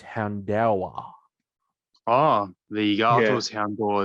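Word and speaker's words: Houndour: that in the anime i've been calling it hound or apparently it's houndawa ah the articles hound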